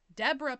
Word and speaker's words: Deborah: Deborah Pickman, spelled like zebra but with a D, 4 months pregnant with their first child, and Tony Pickman, her husband.